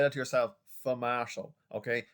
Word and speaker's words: sfumato: so say that yourself for martial okay now the s is silent so for martial and this means smokey